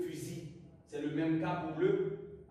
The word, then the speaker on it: fusil: l'usm vert mais quoique s'est terminée par elle se prononce pas on dira le fusil c'est le même tarif